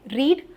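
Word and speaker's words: read: रीड को अगर मैं पास्ट में बोलूं तो रेड हो जाता है। है ना? सिमिलर साउंड क्या है? आर ई डी। लाल रंग के जैसी साउंड है। रेड आर ई ए डी। यह पास्ट फॉर्म है।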